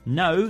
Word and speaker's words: know: No starts with a silent K and thumb ends with a silent B.